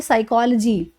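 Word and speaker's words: psychology: लोगे, बट ध्यान दीजिएगा पी इसके अंदर साइलेंट होता है, इसमें पी की आवाज़ नहीं निकालनी है आपको, पी साइलेंट है, इसको हम बोलते हैं साइकोलॉजी।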